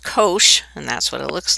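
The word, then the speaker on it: cosh: this graph now the hyperbolic cosine and that's pronounced Kosh and that's what it looks like is the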